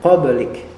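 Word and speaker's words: قَبْلِكَ: lafal qoblik qoblik qoblik di sini huruf ba itu adalah Qalqalah ya huruf ba adalah Qalqalah maka dibacanya qoblik ya Dan Dia tidak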